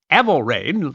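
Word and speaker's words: Æthelræd: Ethelred, which would have been pronounced Æthel ræd, literally meaning noble council or good council.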